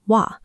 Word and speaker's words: は: Normally, this character is read as ha, but because it functions as a topic marking particle here, its pronunciation changes. In this context, you must pronounce it as wa.